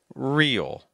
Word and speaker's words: real: Real. Really. Real. Notice that the long vowel pronounces the vowel sound and then adds in all sound.